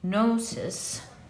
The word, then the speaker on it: gnosis: of Ordu too so gnosis or to pronounce it properly gnosis gives the idea of